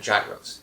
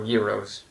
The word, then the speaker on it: gyros: And there we had gyros now or euros, however you want to pronounce it.